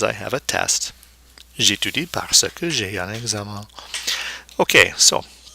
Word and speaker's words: parce que: Okay, there's no E there, forcing its pronunciation. And then parce que.